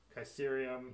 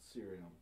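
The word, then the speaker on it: Ksyrium: do you pronounce that kerum cerium kerium no no no k at all serium serium yeah that makes sense it's here's the K in there to confuse I do love your joke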